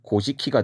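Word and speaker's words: 古事記: 것이 바로 여기에 보이는 고 사기 일본어로는 곳이 키가 되겠구요 그 다음에 마지막 오른쪽에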